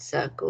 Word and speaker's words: circle: It's naughty that word circle, isn't it?